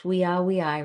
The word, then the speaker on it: via: Remember our V's are pronounced as W's. Weii, wrote our way.